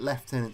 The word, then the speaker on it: Lieutenant: And yes, I did say Lieutenant Surge. We're in Britain, this is how we pronounce that word. Because until recently, the go-to theory was that Lieutenant Surge fought in the Great Kanto War.